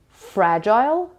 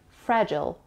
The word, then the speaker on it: fragile: One of them could be fragile, which is British English. In American English, it is pronounced like fragile, fragile. So either fragile or fragile. Both pronunciations are correct.